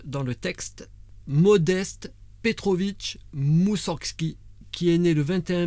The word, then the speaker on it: Moussorgski: tu pries vega donc moussorsgki comme ça se prononce moussorsgki moussorgski moussorgski ayant découvert son oeuvre tableaux d'une exposition